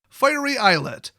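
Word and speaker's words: Fiery Islet: by valuable lands otherwise nobody will touch it finery eyelet that's how you pronounce it everybody on YouTube so these are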